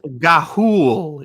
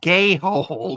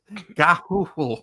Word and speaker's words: Gahoole: So it's Gahoole. It's not Gayhole, Chris. Gahoole.